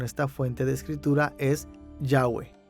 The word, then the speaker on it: Yahweh: fuente de escritura es Yahweh, pronunciada con J en alemán, así como escribimos el Jehová en español.